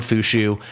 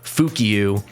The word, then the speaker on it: Fushu: little free-to-play guide on Fushu. And also, sorry to everyone that got angry that I pronounced her in my other video, Fukiu. Uh, I didn't know how to say her name and now I do from watching the EWS streams.